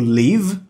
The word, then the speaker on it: live: Live, live.